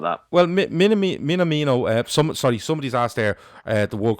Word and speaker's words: Minamino: Is that how you say his name? Minamoto? Yeah, Minamoto. I'm gonna go with that. No, Minamino. Minamino. I keep saying Minimoto. I keep doing it. I've got it wrong every time.